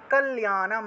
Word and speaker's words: কল্যাণম: বিদেহি দেবী কল্যাণম, বিদেহি, বিদেহি দেবী কল্যাণম, লয়ের সাথে জফলা থাকায় কল্যা উচ্চারণ হবে, কল্যা, কল্যাণম, কল্যাণম, এখানে